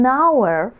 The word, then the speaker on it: hour: пишеться хоур, по-простому скажу так, а вимовляється, то воно, да, H не читається, тому зі словом година ми скажемо an hour.